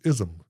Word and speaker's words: Isom: yeah other than that it's ISM ISM yeah people say ism well see I would almost say Isam yeah that's what I used to say yeah and the